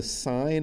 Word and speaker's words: sin: the full word is s-i-n-e we take off one letter to make its abbreviation and so it looks like sin but we don't pronounce it sin we pronounce it sine so when you see